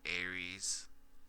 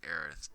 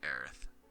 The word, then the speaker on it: Aerith: It is Mako, and then Aries. It's Aerith, dude. It's Aerith.